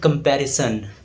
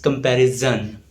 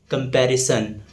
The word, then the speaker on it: comparison: It's called comparison. There is no z sound. So this word is often mispronounced as comparison. There is no z sound. So the correct pronunciation is comparison.